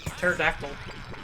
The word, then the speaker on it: pterodactyl: look up these names the p is silent if the b is